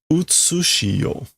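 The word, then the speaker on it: 現: So, this is gen, right? But we it's not the normal pronunciation. So, gen is like the um the present world or the trans transient world, but we're getting utsu. which is a I think an old pronunciation.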